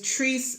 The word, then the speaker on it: Tris: The character's name is Tris Miles. That's spelled T as in Tom, R-I-S. Tris, you said like, or Tris, like kiss? Tris, like kiss? Yeah, Tris Miles, M-I-L-E-S.